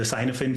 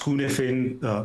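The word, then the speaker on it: Cynefin: is called the the sinophin framework is actually pronounced kunfin which is a Welsh word by by a researcher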